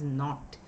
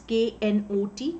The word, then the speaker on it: knot: It is knot. Now this K is silent. So how do we pronounce K-N-O-T, knot?